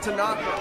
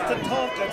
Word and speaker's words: Tatanka: And look at Tanaka. Tatanka. It's pronounced Tatanka, Travis.